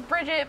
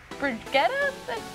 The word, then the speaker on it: Brigitte: But earlier this month, we found out that Hero 27 in Overwatch is indeed Torbjorn's daughter, which we thought was Bridget, but it's Brigitte? Brigitte? That's how she pronounces it, and it shocked a lot of people.